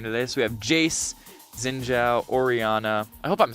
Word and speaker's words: Xin Zhao: Yeah, it's Xin Zhao, not Jin Zhao, or I'll figure it out at some point.